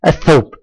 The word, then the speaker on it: الثوب: الثوب، الثوب، الثوب. هل نطقت اللام؟ لا، لم تنطق اللام، ممتاز، لم تنطق اللام، وانتقلنا من الألف إلى الثاء مباشرة، إذن فهي لام الله، ممتاز.